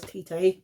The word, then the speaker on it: Tite: I pronounce it as Tite, because it sounds natural.